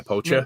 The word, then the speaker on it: Pocher: Pocher, the 1/8 scale, like poacher? basically. Yeah, poacher.